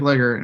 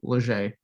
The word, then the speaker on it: Leger: Like, it's spelled Legr. It looks like Legger, and all it is Leger.